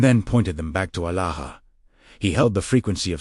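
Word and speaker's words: ܐܠܗܐ: The Aramaic word is Alaha, pronounced Alaha. The first syllable opens like a breath. The second rises LAH, as if calling upward toward an infinite sky.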